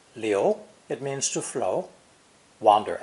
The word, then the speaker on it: 流: Pronounced liu, it means to flow, wander aimlessly, or spread unchecked.